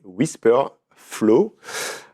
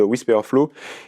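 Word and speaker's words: Wispr Flow: mon ordinateur et aussi sur mon téléphone, c'est Whisper Flow. Euh donc ça s'écrit w i s p r f l o w.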